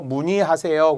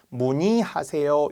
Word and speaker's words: 문의하세요: 문의하세요. 그러면은 문의하세요도 되고요. 문이하세요. 이렇게도 된다라는 거죠. 두 가지 발음이 가능하다.